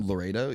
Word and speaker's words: Laredo: I don't know if I'm pronouncing that right, but Laredo? You're saying it correct.